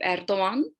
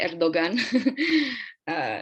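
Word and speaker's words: Erdoğan: I know you guys have probably heard about Recep Tayyip Erdogan. We say the G, soft G. We don't say Erdogan.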